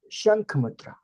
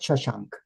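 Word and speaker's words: Shankh Mudra: Shank mudra. Not shashank.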